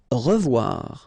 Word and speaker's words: revoir: Revoir. Okay, remember to pronounce this like a revoir. O-E together is pronounced like wawa.